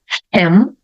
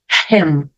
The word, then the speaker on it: him: Então, eu tenho aqui them, him, her. Veja, aqui com H, eu pronuncio o H como o som de R forte. Him, her, him, her.